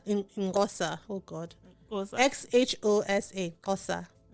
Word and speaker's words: Xhosa: XHOSA, Kosa.